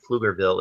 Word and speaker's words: Pflugerville: The P in Pflugerville is silent.